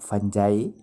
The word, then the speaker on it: fungi: ये लफ्ज़ फंगी, इसको आप फंजाई या फंगाई भी प्रोनाउंस कर सकते हैं, लेकिन बेहतर यही होगा फंगी।